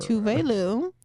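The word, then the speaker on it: Tove Lo: So Dom Dalla brought out Tuvlo or Tuve Lu. Tuve Lu. Get it right.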